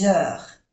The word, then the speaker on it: heures: Aquí hacemos la unión porque es una H muda, des heures. No se pronuncia ni la E ni la S, que es plural, des heures.